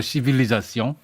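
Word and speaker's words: civilisation: 보통은 뭐 영국도 마찬가지긴 한데 뭐 그래서 불어 발음으로 시빌리자시옹 발음 조심하세요.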